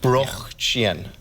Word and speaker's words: Brötchen: Well, we use this Brötchen. It's like the standard language, but... Brötchen.